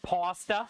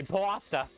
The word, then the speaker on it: pasta: thing they have there pasta is pronounced pasta yeah right nobody's drawing out the a I've heard some people say p pasta I've never had heard anybody say pasta unless you're from uh